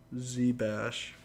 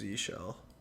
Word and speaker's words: zsh: converting from bash to Z bash is that the proper way to say it or just oh it's just zshell it's not like Born Again 1990 interesting yeah that's pretty